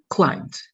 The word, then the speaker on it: climbed: Only the pronunciation is going to be more like I. Climbed.